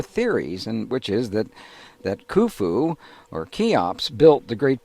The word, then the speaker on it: Khufu: sieve that is pronounced so it's U, F, U, Khufu, which we call Cheops in English.